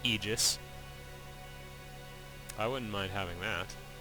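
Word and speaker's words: Aegis: And yes, it's pronounced Eegis.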